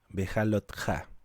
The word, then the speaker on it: Behaloteja: 16 lleva por título bejalo teja Pero hay versiones que dicen que se pronuncia bejalotte que en una traducción